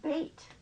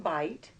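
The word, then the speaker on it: בית: lot bait let him we have bait it's not pronounced bite it's pronounced bait and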